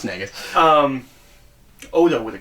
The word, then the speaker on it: Nagus: you know he could have gone with that pronunciation but no it's nagas um Odo would have called him naggas sure um it's disrespectful though that's the leader